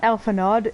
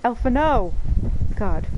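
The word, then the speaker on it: Alphinaud: Alpha knows name wrong it's not alphanod it's Alpha no God I remember everything yay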